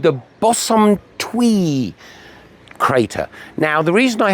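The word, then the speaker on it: Bosumtwi: straight that I realized it wasn't the Botswumi, it's a Bosumtwe. I got me syllables wrong.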